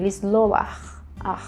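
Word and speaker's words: לסלוח: Tem um é um sonzinho de R nesse final, que fica bem assim, você tem que pronunciar bem, lisloar, tem que sair de dentro da garganta. Então, esse verbo, ele é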